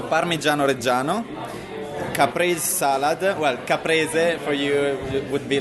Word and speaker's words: caprese: Well, caprese for you would be like caprese salad, and robiola cheese.